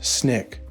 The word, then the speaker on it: SNCC: Después de muchos arrestos y campañas no violentas, se unió al Comité Coordinador Estudiantil *No Violento (SNCC) pronunciado “Snick”.